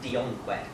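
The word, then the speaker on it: DEONQED: It's formed from the remnants of, I pronounce it Dionqued, or D-E-O-N-Q-E-D.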